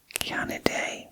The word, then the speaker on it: Canidae: Dogs belong to the Canaday family, and that is spelled Canidae.